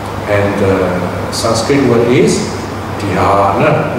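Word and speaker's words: dhyāna: And the Sanskrit word is dhyana. Notice there's a long vowel. The first vowel is long.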